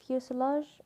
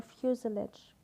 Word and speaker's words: fuselage: what is the fuselage it could be pronounced fuselage or fuselage fuselage refusal edge anyhow